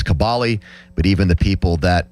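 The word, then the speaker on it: Kaboly: Mark has told people repeatedly that the correct pronunciation of his name is Kabali but even the people that pay him on the show say his name incorrectly.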